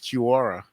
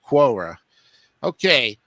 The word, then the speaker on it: Quora: weirdest stuff or more than 33 by now quora so that's how it's pronounced okay I didn't know I thought it was cuora yeah quora okay uh they asked the question of what is